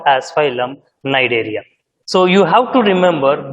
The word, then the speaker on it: Cnidaria: Here, okay, Cnidaria, C is silent. The first term, Coelenterata, the another term, Cnidaria, C is silent, you have to read it as Cnidaria.